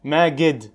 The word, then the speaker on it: Magid: Magid, with a D. M-A-G-I-D. Oh, yeah, M-A-G-I-D, yeah. That's how you say it in English. Right?